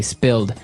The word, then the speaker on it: spilled: Okay, spilled. Now, it's pronounced differently from spell, right? That's right, It has spill. an I, spilled.